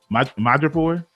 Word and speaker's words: Madripoor: Madripoor?